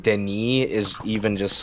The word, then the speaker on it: Denis: The fact that it's pronounced Denis is even just like...